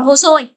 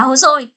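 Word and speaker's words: 細い: Hay là nếu mà thừa y ra ngoài thì đọc là hosoi. Đó, đúng không ạ? Thừa kai thì là komakai, thừa y thì là hosoi.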